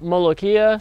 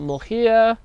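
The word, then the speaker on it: molokhia: This plant here is called molokia. Some people call it molokia. In Arabic, that's how it's pronounced.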